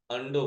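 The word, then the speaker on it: undo: कुछ लोग अंडू बोलते हैं, कुछ लोग अंडो बोलते हैं। अंडू, अंडो जो भी इस्तेमाल करना प्रोनाउंसिएशन कर सकते हैं। इंग्लिश का कोई एग्जैक्ट प्रोनाउंसिएशन नहीं हो पाया है।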